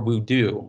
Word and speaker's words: Wuda: as in the anime, they pronounce it as Wuda. Interestingly, in the video game version, for the English dub, they call it the Four Wudu. So I thought that was interesting that they changed the pronunciation of that in the anime.